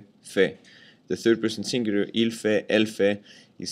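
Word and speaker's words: fait: meaning ver regre EXA the three first forms are pronounced exactly the same way Fe the third person singular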